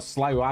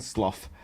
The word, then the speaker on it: slough: Pronunciations as well, slough and slough, both of which are accurate for different expressions.